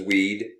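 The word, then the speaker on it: Wied: capacity screen as well my name is pronounced weed erect as you can see and i'm also known as weed that's w-i-e-d period even though phonetically it looks like weed my office is nrb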